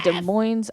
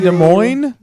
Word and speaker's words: Des Moines: Albarn yes and ending March 3rd 21st in Des Moines Iowa boy you made Des Moines Des Moines yes for pronounce Des Moines Des Moines what a stupid